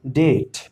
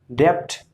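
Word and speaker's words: debt: तो इस तरह से इसको पढ़ेंगे डेट, डेप्थ नहीं लिख पढ़ेंगे, ये डेप्थ नहीं लिखा है, ये लिखा है डेट।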